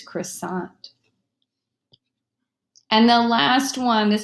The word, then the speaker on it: croissant: pronounce it with an English pronunciation it's going to be Croix sent but we all know this comes from the French language its croissant and the last one